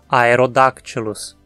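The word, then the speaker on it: Aerodactylus: A mesma regra é válida para todos os outros gêneros terminados em dáctilos. Vamos ver alguns. Aerodáctilus.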